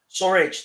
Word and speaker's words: Sturridge: Like I said, we'll talk about Sturridge. Sorry, I can't pronounce his name. I get it wrong. Sturridge, whatever. Surridge. There's no T.